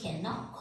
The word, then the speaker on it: knock: Now, the last one is silent K. See, when K is sitting just beginning of the word and after K, N is there. In that case, silent K is applicable.